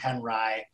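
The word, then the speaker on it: Henri: figure who ed has introduced us to robert henry and for those in the know that is how you pronounce that surname that looks like it should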